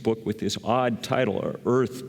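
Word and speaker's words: Eaarth: with this odd title Earth but spelled wrong e a a rth you kind of have to channel your inner Schwarzenegger to pronounce it correct sort of um um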